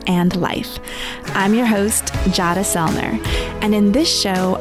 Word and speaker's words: Jadah: For those that are listening, my name is Jadah, rhymes with Prada.